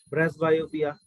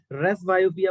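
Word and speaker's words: presbyopia: यहाँ पे जो पी होता है वो साइलेंट होता है, ठीक है, रेस बायोपिया बोला जाता है इसको।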